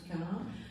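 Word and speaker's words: Cahun: Donc vous avez le mannequin à droite qui reprend quelques éléments de l'esthétique de Claude Quin, justement, que j'avais mentionné. Ça s'écrit C-A-H-U-N, si jamais ça vous intéresse, qui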